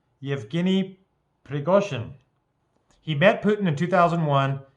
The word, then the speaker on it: Yevgeny Prigozhin: because she understands some Russian and she can pronounce some of the words. How do you say it? Yevgeny Prigozhin. Yevgeny Prigozhin.